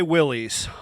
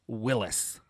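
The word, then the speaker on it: Willys: same spelling go ahead tell me the pronunciation which is willis willis willis is correct so you both with a with us i will always say willie's um i'm sorry and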